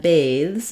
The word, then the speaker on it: bathes: get devoiced the other difference between baths and bathes is that in bathes the silent e at